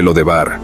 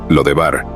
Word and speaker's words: Lodebar: era conocida como debir el nombre l debar o dependiendo de su pronunciación lod debar indicaba un lugar sin